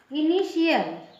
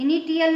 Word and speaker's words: initial: इनिशियल। इनिशियल, इनिटियल नहीं कहेंगे, इसको पढ़ेंगे, इसको इनिशियल श पढ़ेंगे, ठीक है, टी को श पढ़ेंगे।